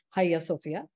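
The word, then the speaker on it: Ayasofya: what many people say but uh it is pronounced in turkish as higher sophia it started off being a church actually so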